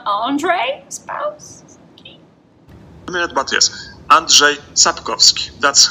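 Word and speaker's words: Sapkowski: spouse key on andre spouse yes and jay zapkowski that's how you pronounce it thank you okay guys that is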